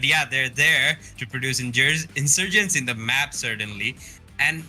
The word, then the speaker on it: Insurgent: আমরা গেমটা দেখতে পাচ্ছি amongst Warbex Esports versus Insurgent Tennos. I mean, did I say it right? Yeah. What should I say? Okay. Well, it's Insurgent, but you said it anyway, so it's worse.